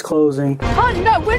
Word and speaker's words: Han: It's Han, but that's okay. We don't need a backstory on why he can do a turn and cut through something as it's closing. Han, no, we're not going to make it.